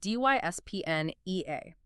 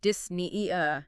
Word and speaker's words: dyspnea: Like, take dyspnea, the term for shortness of breath, spelled D-Y-S-P-N-E-A. You don't drop the P and say dyspnea. No, you don't. The syllable splits it. You say dyspnea, both consonants fire.